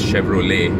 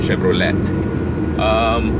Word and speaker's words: Chevrolet: I think it's the European and American names that we tend to mispronounce. Like earlier I mentioned, it's Chevrolet, not Chevrolet.